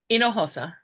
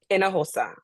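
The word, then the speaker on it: Hinojosa: for you Amy and do I pronounce the h the J in your name or or is it an H sound it's in aosa in aosa okay yes welcome to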